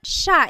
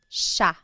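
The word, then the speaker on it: siya: be pronounced CA but it's actually pronounced Sha Sha there are some regions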